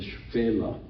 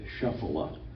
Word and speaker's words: Shephelah: slowly softens out, and we call that the Shpela. Some people say Shephelah, and that's okay. It's not correct, but it's okay. It's easier to pronounce. So Shpela is the way the modern Israelis speak of this area.